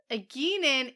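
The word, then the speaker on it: Egeanin: Eginen is...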